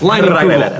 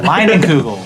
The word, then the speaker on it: Leinenkugel: Leinenkugel. Leinenkugel.